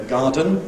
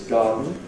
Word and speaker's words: garden: Sometimes you hear , but usually it’s , and also in various other kinds of words.